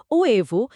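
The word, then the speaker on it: huevo: আবার ডিম বোঝাতে স্প্যানিশে যে শব্দ ও এভো সেখানে এইচ এর পর ইউ আছে। তাই সরাসরি ইউতে লাফ দিয়ে উচ্চারণ হবে ওএভ।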